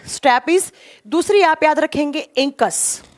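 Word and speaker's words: stapes: सबसे पहले का लिखेंगे स्टैपीज। इसको स्टैब्स भी बोला जाता है, कभी कभी ना इसको प्रोनाउंस करते हैं ना स्टैपीज या स्टैब्स भी बोलते हैं, ठीक है।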